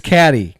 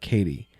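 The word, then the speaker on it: Cady: Her name is Caddy. Catty Herren. Where are you, Caddy? That's me. It's pronounced like Katie.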